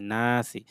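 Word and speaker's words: ناس: নুন আলিফ জবর না, সিন জে সি, নাসি, জবর পর আলিফ, এটা টান হবে, নাসি। কুল আউযু বিরব্বিন নাস। বানান করার সময় আমরা এটা নাসই পড়েছি, আবার মিলিয়ে পড়ার সময় নাস পড়বো।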